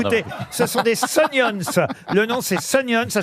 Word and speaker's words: Sunions: Non, mais particulièrement dans- écoutez, ce sont des Sunions. Le nom, c'est Sunions. Ça s'écrit S-U-N-I-O-N-S.